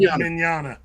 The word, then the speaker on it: Mignogna: Mignogna.